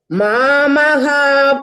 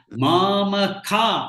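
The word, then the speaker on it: मामकाः: Mamaha Pandavachaiva. No, hold on. Mamaka is ka.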